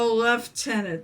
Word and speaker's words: lieutenant: A left tenant. That's why it's spelled differently. It's British because British Army.